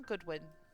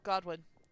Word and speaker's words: Godwin: From Goodwin. Oh, Godwin. Sorry, I mispronounced his name.